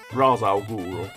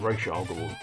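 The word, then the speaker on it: Ra's al Ghul: he started out originally, he was always just Raz Al Ghul, but then it became Rish Al Ghul when I'm assuming someone said, that's not how you pronounce that name.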